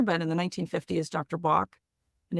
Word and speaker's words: Bach: in the 1950s Dr Bach and if you're in the UK the way that traditionally his name is pronounced is Dr batch uh and he probably